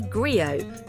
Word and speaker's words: griot: They don't have TVs, so they listen to the griot, pronounced gri-o.